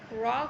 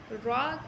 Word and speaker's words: را: کے برابر پڑھنا ہے۔ را کہیں پر پڑھا جاتا ہے، کہیں باریک پڑھا جاتا ہے، لیکن یہاں پر پڑھا جائے گا۔ آپ دیکھیں تو را کا تلفظ اصل میں تو پر ہی ہے، لیکن آپ آگے دیکھیں گے کہ جہاں را کے نیچے زبر آتا ہے وہاں ہم اس کو باریک پڑھتے ہیں، اور جہاں را پر